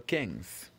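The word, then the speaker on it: quinze: remember 15 is Kings exactly now let's spell Kings Q u i n z e KS wonderful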